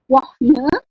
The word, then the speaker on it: wohne: Frau, Bu Sofa, kok H-nya tidak dibaca? Kenapa bunyinya tidak ich wohne? Tapi kok bacanya ich wohne. Jadi di situ ada huruf H di tengah. Jadi huruf H di tengah ini nanti tidak terbaca, tapi panjangin huruf O-nya.